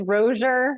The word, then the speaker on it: Rossier: You're saying it more beautifully than it actually is pronounced. It's Rozier, but you can say Rossier.